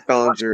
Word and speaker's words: Ballinger: say and then this Ballinger it actually sounds more like bell ringer when you think about